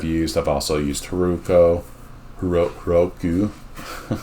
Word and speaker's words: Heroku: Heroku is the right way to say it.